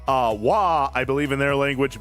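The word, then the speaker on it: Waaagh: For those of you who don't know, wah or w a a a gh, the g is silent. Uh wah, I believe in their language means just war.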